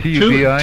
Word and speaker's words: Tubi: Is that how you pronounce that streaming... Tubi. T-U-B-I?